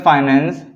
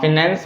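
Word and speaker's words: finance: Business फाइनेंस and marketing. ठीक है, आप फिनेंस बोल सकते हो, चल जाएगा।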